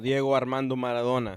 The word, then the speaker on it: Diego Armando Maradona: you gotta say it right diego armando maradona all right so imagine those people and how